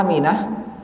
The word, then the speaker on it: amin: Harus panjang dua-duanya. Amin. Tidak boleh amin atau amin, tidak boleh. Nanti beda artinya.